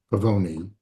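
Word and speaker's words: Pavone: This book, The Doorman by Chris Pavoni is how he pronounces it, um, blew me away.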